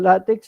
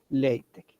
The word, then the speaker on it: LaTeX: vamos a seguir llamando látex Aunque en la pronunciación adecuada sería la pronunciación adecuada sería lc qué es esto es